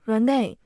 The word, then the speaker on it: Renee: 那时刘若英的英文名叫 Renee，末尾发音有点像奶。